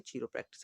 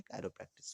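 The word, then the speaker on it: chiropractic: क्या है, कायरो प्रैक्टिस या फिर चीरो प्रैक्टिस आप लोग कह सकते हैं, लेकिन सही प्रोनाउंसिएशन है कायरो प्रैक्टिस।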